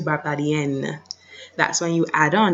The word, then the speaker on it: barbadienne: However, females would say je suis Barbadienne. You can hear that N, je suis Barbadienne.